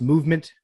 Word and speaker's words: MVMT: and clean original designs mvmt pronounced movement grew into one of